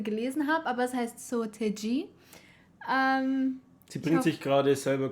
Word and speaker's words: Seo Taiji: mir wirklich sehr leid auf deutsch würde man sagen seataiji aber uns wurde gesagt dass es falsch ist.